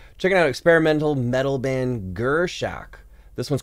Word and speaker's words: Gurschach: Checking out experimental metal band Gurschach.